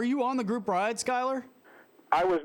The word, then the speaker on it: Schuyler: It's Schuyler, Ortega, Ortega. Yeah, big props on the pronunciation as well.